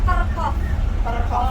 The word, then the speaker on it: kerkhof: Kalau makamnya orang Belanda itu istilahnya kerkhof. Kerkhof. Pakai Iya, P aslinya kerkhof. kerkhof. Kerkhof.